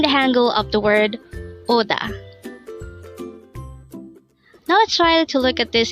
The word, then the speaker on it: 오다: boys oh and a second syllable is star pronounce it with me Oda the word Oda is a verb which means